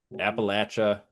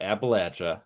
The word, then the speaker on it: Appalachia: Appalachia. Appalachia. You better pronounce it right. Yep. Appalachia. How do you say it, Jared? Like, like you throw an apple at you.